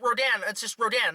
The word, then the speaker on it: Rodan: radar and that was the original pronunciation of Rodin but now it's like Rodin Rodan not rot or Dondo right so my dad shows